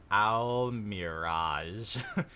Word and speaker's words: Almiraj: in al mirage quote parentheses pronounced al mirage is a large timid